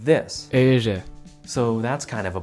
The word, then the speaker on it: Éire: The Irish call their island this, which if you're like me, your first inclination is to pronounce it like my life for ire.